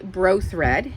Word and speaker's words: Bro Thread: And this variegated thread is by Bro Thread. And I always wondered how to pronounce that. How many of us look at that and we want to say brother? It's Bro Thread from what I've been told.